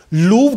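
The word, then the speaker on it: Louvre: लूव्र की वर्तनी L-O-U-V-R-E है। आपको किताबों में इसे 'लूव्र' लिखा हुआ मिलेगा। लेकिन यह एक फ्रांसीसी शब्द है, और इस फ्रांसीसी शब्द का सही उच्चारण लूवर है।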